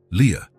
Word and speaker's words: Lia: This is your name, he explained, pointing at each letter as he pronounced them. Lia A. Leah.